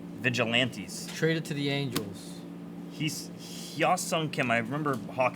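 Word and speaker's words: Hyeseong: Hyosung Kim. I remember Hawk said it earlier. It's perfect pronunciation. James Tibbs out of 150 blue. Hisung. Heesung.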